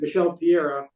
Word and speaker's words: Michel Pereira: Michel Pereira, and that fight he missed weight.